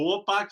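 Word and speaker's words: chłopak: Tipo, huopak você escreve com CH.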